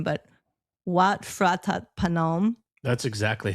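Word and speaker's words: Wat Phra That Phanom: But we went to the temple there, which is, I'm going to massacre the name, but Wat Phratat Panom. That's exactly how you pronounce it.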